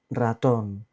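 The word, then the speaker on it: ratón: two main pronunciations okay when it appears at the very beginning of a word like in rido fast or when it's doubled r r r we have a combination of two RS double which sounds very strong like in pero but also it sounds a strong if is a single r at the beginning of the war for example Raton perro is in the middle but there are two RS perro means dog Raton means Mouse is at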